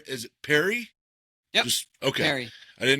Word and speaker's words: Perri: Is it Perry? Yep. Just Okay. I didn't know if it had some fancy French uh pronunciation.